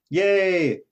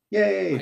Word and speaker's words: Ye: i did know that yay like that that's how he pronounces it right yay i type in i